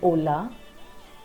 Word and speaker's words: hola: And please note, the letter H is silent in Spanish. It means it has no sound. That's why the famous Spanish greeting hola has H silent in it.